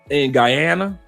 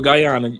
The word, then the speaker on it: Guyana: The women in Guyana or Guyana, you can pronounce it either way.